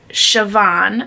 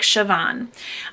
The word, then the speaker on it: Siobhan: a book about um siobhan and i think that's how you say her name it's spelt really differently but the audio it sounds like siobhan she is the eldest